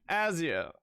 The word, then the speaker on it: Azure: I think it's Azure like you said. Let me double check. What the Okay, this is a British pronunciation. What does the American pronunciation sound like?